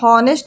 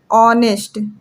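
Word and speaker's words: honest: ऐसे नहीं पढ़ा जाता है कि हॉनेस्ट मैन, इसको हम क्या पढ़ेंगे, ऑनेस्ट। कैसे पढ़ेंगे, ऐसे, ऑनेस्ट मैन ऐसे पढ़ेंगे।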